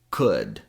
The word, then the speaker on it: could: And the secret to pronouncing could, would, and should is knowing the sound in good.